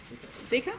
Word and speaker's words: Zika: the 2009 flu pandemic ebola and do i pronounce it zika zika yep and he has worked in brisbane rockhampton